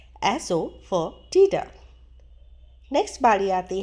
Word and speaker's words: asafoetida: को पता भी होता है तो उन्हें सही प्रोनाउंसिएशन पता नहीं होती। तो चलिए सीखते हैं हींग को इंग्लिश में कहा जाता है एसो फॉर टीडा। एसो फॉर टीडा।